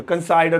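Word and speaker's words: consider: आई कंसीडर, कंसाइडर, कंसीडर, अलग अलग जगहों पे अलग अलग प्रोनाउंसिएशन।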